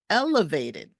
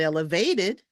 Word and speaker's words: elevated: validated your turn okay next one elevated the first syllable gets the stress elevated not elevated elevated your turn all right